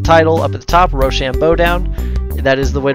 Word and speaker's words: RoShamBoDown: I got the title up at the top Rochambeau down and that is the way to pronounce it it's it's not like rashambadan or anything like that you click how to